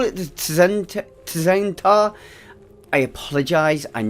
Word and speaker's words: Tzen'tar: The T is silent, which is horrible for someone like myself who wants to say every single letter in a word.